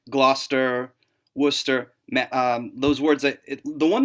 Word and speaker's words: Gloucester: lot of those like Gloucester, Worcester. Those words. The one that I found really fascinating, Leicester, does not look like Leicester. Yeah. Neither does Gloucester. Right. It looks like Gloucester, which I'm like, nope.